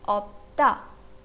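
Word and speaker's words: 없다: It will be pronounced as opta, opta.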